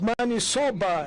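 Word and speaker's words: maniçoba: the interpreter could interpret it correctly because it's money soba as you pronounce it and there's a dispute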